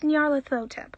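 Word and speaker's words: Nyarlathotep: most of that time it's pronounced nyalithotep says the woman with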